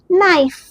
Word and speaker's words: naïf: e i, so see how we pronounce naïf.